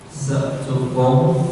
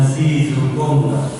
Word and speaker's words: Secukung: Secukung tong seliu, bacanya seperti itu. Bukan si cukung, bacanya secukung, tong seliu.